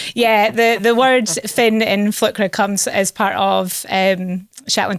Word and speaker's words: flükra: And then Flkra, which is how it would be pronounced in Shetland, means large flurries of snowflakes.